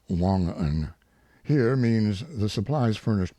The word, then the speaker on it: Wangan: Note, Wangan, pronounced Wongan, here means the supplies furnished by Isaac and sold to his men at exorbitant profits.